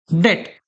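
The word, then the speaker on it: debt: या तो आप बैंक के पास जाओ, उनसे लोन ले लो, जिसको हम बोलते हैं डेट। क्या बोलते हैं? डेट। अब इसमें बी जो है वो साइलेंट है।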